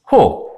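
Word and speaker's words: ὁ: 호. 근데 지금 위에 이 거꾸로 된 심포 같은 게 있었죠? 이렇게 되면 히읗처럼 발음하시면 돼요.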